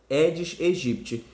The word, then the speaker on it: Aedes aegypti: né o édes egípcio é até escrito aedes aegypti mas a pronúncia é Edis egípcio e também tem o